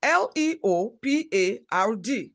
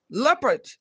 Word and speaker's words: leopard: Pronounce L-E-O-P-A-R-D. It is pronounced leopard, not leopard.